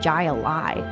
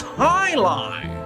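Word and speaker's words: jai alai: the heck is a gia lie it's pronounced high lie what the heck is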